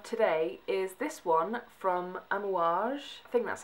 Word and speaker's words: Amouage: item we have today is this one from an wash thing that's how you pronounce it and it's their sunshine perfume this